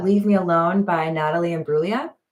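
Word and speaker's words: Imbruglia: Uh, Leave Me Alone by Natalie and Bruia. There's a G in there before the L. I don't think you're supposed to pronounce it.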